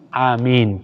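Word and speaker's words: Āmīn: imam ay ang amin ay may dalawang mad. Mad sa doon sa mi. Amin. Matagal po doon sa a at saka mim. Amin. Okay, yung pang tama. Okay. May pagkakamali dito yung iba na binibigkas na amin. Ginawa niyang mad o ginawa niyang shadda. Doon sa mim. Amin. Amin. Mali po. Walang shadda doon. Amin. Amin. Hindi amin. Mali po yun.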